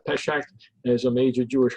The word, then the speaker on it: Pesach: Passover is also called, and Michael, you may have to help me on the pronunciation on this, is also called Pesach.